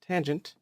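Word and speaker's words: tanh: they are very similar to sine cosine and tangent and they're reciprocals cosecant secant and cotangent however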